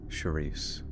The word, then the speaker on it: Sharice: would be more memorable Sharice it rhymes with police and release release me from the police sherei chizo yeah probably